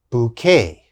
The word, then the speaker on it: bouquet: we use in english bouquet bouquet and what is bouquet of course bouquet is a group of flowers we call that a bouquet of flowers when you have many flowers you give a bouquet of flowers to your girlfriend or wife okay that's called a bouquet bouquet this has a k sound bouquet the next word